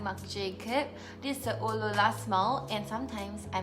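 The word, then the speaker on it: Oh, Lola!: This is the Eau La La smell, and sometimes I mispronounce it and call it Eau La La.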